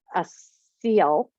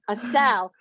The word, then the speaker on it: Assel: i have with me a seal a seal they say it wrong that's okay so oh man a cell and as everybody knows